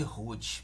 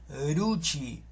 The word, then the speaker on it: Ruth: Mas em hebraico não é com a pronúncia de R, é a pronúncia da letra Resh, porque Ruth em hebraico